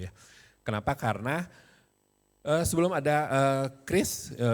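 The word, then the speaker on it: QRIS: Kenapa karena sebelum ada Kris Bacanya adalah kris bukan qrs bukan keris bukan keris tapi keris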